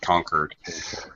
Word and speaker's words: conquered: conquered with a D on the end, conquered.